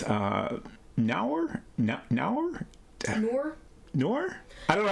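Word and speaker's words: Nour: coming up called uh nauer nor I don't know how to pronounce it n-o-u-r my assumption was that it rhymes with poor okay nor we'll say nor then which looks very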